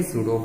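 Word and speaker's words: pseudo: Okay, तो सूडो force मतलब सूडो, यहाँ पे पी ए साइलेंट वर्ड है।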